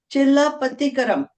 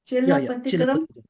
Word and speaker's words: Chilappathikaram: He'll be focusing on, have I got this pronunciation correct? Chilappathikaram. Chilappathikaram?